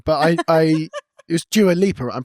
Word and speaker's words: Dua Lipa: I would never look at another woman, but I I it was Dua Leaper. I'm pronouncing that right?